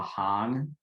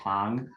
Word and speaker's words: Hang: a hang drum but it's actually called the hang so it's like a long a hung and there's no drum on the end of it it's just hung but um but yeah